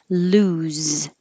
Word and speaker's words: lose: But 32, lose. It's a oo and a z.